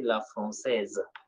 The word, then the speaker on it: française: Here, this S is pronounced and becomes Z. So we say le français. This S is silent, but here it is pronounced because of the interruption letter E. So we say la française.